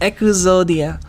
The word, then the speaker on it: Exodia: uh uh i i i'm pretty sure exodia is is echo and well i have to look it up i don't know it's just echo zodia it's not every x